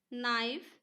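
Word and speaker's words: knife: লাগিব এর ক্লাইম থাম কম দাম নি নো নাইফ ন এত আমি সি এল আই এমবি এই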